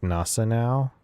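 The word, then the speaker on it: Gneisenau: Was it Giesenau or whatever it is? It's supposed to be pronouncing it like Nasa now. The G's Gnassenau. silent.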